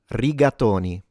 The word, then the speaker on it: rigatoni: So to pronounce this like a real Italian, you would say riatonyi. Ratatoni riatonyi. All right, let's uh dissect it a little bit. So the r of course is slightly trilled.